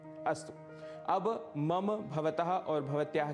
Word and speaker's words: भवत्याः: एवं तीसरा पद है भवत्याः। भवत्याः, इसका भी अर्थ है आपका, पर यह स्त्रीलिंग के साथ ही प्रयुक्त होगा।